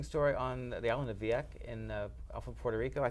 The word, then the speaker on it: Vieques: interesting story on the island of Vieques off of Puerto Rico. I think it's pronounced.